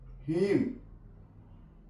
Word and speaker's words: hymn: हीम, HYMN, हीम। Solemn, N silent है।